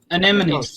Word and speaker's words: anemone: Anemones. Sea anemones. Oh, okay. I'm not pronouncing that word.